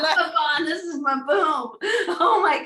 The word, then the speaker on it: Mabon: But the sacred Sabbat of fall equinox is Mabon, right? Did I say it right? Mabon.